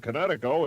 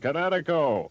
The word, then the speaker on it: Kinetico: I thought the instructor said Connecticut, not you should have remembered kinetic as in kinetic energy with an O on the end. Kinetico.